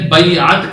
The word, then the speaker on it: بیعت: بندے کا بیعت ہے، اس کا درست تلفظ بھی سیکھ لیں، بیعت کہتے ہیں۔ بیعت کا کیا مطلب ہے؟